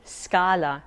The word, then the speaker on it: scala: scenery view or landscape sc plus a o or u is a hard sk sound for example scarpa shoe and scala staircase the italian z or